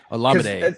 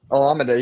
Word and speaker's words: Olamide: Olamide. It's the same thing. Olamide, yeah, he's getting the same type of work